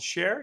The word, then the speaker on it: Cher: You founded a company called Share, yes? It is, yeah. So it's called Share, and I named it not because I love the singer, It's but spelled she does C-H-E-R, kind. not spelled S-H-A-R-E.